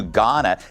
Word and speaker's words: Ghana: LA Mayor Karen Bass is demanding an investigation into her trip to Ghana. The H is silent.